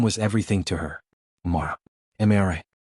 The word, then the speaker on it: Amara: Amara. 3 syllables.